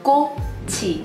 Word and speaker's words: 꽃: 꽃, which is flower, you do not pronounce the chiit at the end. You don't pronounce it as 꽃, you pronounce it as 꽃, so it turns in sort of to like a T sound.